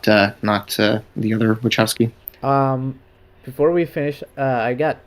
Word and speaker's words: Wachowski: I'm trying to not be too hopeful, because I don't like the other movies that these directors made, the Wachowskis, or I don't know how to pronounce their name.